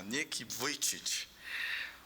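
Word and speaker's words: Nick Vujicic: Nome difícil? A pronúncia é essa mesma, Nick Vited.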